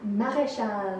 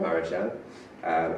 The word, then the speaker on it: Mareschal: Oh, how do you pronounce that? Maréchal. Maréchal.